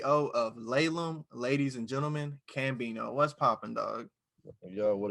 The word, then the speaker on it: CCCambino: But it's actually just pronounced Cambino. A lot of people they be like Cambino. I guess they thought I was doing like the X, the X thing or something.